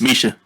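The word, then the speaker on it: Mica: This next song is called Fighter by Mika Ellis. Misha. Oh, Misha. That's all right, man. That's all right. I'm sorry. It's spelled M-I-C-A. I know. It's Misha, though.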